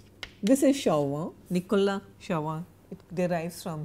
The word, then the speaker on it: Chauvin: I am giving you the French pronunciation, Chauvin. This is Chauvin, Nicolas Chauvin.